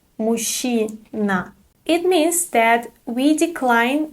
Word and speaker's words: мужчина: Мужчина, мужчина. Pay attention to the pronunciation. Ж-ч is pronounced as sh. Мужчина.